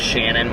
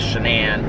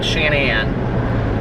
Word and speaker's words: Shanann: of the wife whose name i thought was shannon watts but apparently and so i thought like the narrator was like mispronouncing her name so it took place in